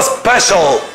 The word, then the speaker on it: special: الناس اللي عندها احتياجات خاصة ذوي الاحتياجات الخاصة اسمها الاحتياجات الخاصة special. عندنا C-I-A-L المقطع ده بننطقه شار special. Special needs احتياجات خاصة.